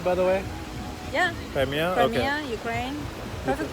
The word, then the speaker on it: Crimea: Crimea? Crimea, Okay. Ukraine. Perfect pronunciation.